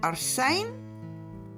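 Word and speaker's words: ἄρσην: It is pronounced Arsene or Arsena and all these other different ways.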